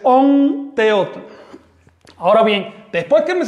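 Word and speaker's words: Ometeotl: Así que esa m se me transforma en on. Si quiere decir divina dualidad no es ometeot, es on teot.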